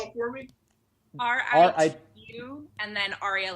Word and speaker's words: Ritu: Spell it for me. Ritu, and then Arya, like Arya Stark. Rita. Ritu.